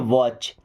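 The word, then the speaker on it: watch: वॉच। देखिए, इस word में टी साइलेंट होता है, क्या पढ़ते हैं? वॉच।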